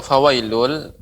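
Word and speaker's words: فويل: Fawailul lil musallin. Untuk fawailul pengucapannya jangan juga terlalu lama. Fawailul lil ya.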